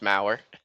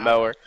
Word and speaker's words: Mauer: Seeing how you're going to pronounce it, but you can pronounce however you want, but it is actually pronounced Mauer, not mower.